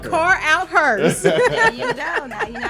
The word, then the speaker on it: Carouthers: spell my last name it's car out her c a r o u t h e r car out car out hers you don't now you